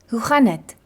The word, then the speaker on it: Hoe gaan dit: Hoe gaan dit can often be pronounced as hoe gaan het?